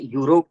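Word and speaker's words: Europe: ई से तो स्टार्ट हुआ, वॉवेल से स्टार्ट हुआ है, बट प्रोनाउंस करते समय यूरोप आ रहा है, तो इसलिए क्या बोलेंगे हम? अ यूरोप बोलेंगे, अ यूरोपियन नेशन।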